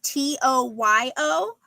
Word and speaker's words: Toyo: And this is I think it's pronounced Toyo. It's Toyo.